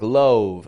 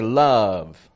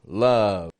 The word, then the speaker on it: love: it's more of an like a U sound, like in cup or shut. I hear a lot of people pronouncing love just like it's spelled, like love.